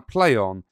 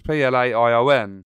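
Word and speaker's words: Playonn: will live on our play on if it's pronounced play on it's pla i o n and with that it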